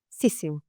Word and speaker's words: sisu: to pronounce it so it is in fact a Finnish word siss none of us quite say it correctly because we're not finnished